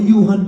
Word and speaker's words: Johan: Ang hirap naman bigkasin ng pangalan mo. Yuhan pala yan.